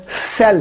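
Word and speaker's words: cell: जिस तरह सी E double L सेल है, ये कैल नहीं है सेल है।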